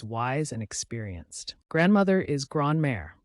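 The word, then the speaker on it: grand-mère: often seen as wise and experienced grandmother is grare pronounced gr May grandmothers are known for their warmth and kindness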